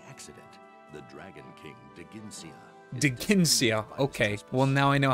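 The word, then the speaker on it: Dheginsea: into gold by accident the dragon king digincia di ginsea okay well now i know how to pronounce it former companions nasir and ena appealed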